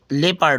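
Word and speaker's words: leopard: लेपर्ड एंड द ल्फ य लेपर्ड होता है फ व साइलेंट होता है लेपर्ड यानी तेंदुआ एंड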